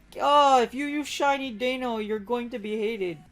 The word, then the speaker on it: Deino: is how to catch dano yes i finally looked up a video on how to say daniel so instead of dino and dano i don't really care about the pronunciation but it's called dano so dano is the